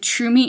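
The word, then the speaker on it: Tromi: cell phone I highly recommend Trum me and trumi is spelled t r o m i cuz that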